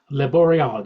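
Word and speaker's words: Le Boréal: Was the pronounced the Laboreal? Le Boreal, yes.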